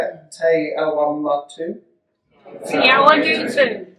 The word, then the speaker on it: Te Awamutu: Te Awamatu?